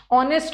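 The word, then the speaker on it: honest: ऑनेस्ट में भी ऑनेस्ट नहीं होता। एच साइलेंट है।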